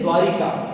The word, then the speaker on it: द्वारका: अगला शब्द देखिए जैसे द्वारिका। अब ये शब्द ऐसा है दोस्तों। यहां पर आपको क्या करना है? सीधा-सीधा याद रखना है। शब्द द्वारिका नहीं होता। शब्द शब्द होता है द्वारका।